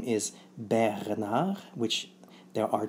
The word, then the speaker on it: Bernard: So that's how you pronounce in English Bernard. In French it's Bernard. So thank you for watching.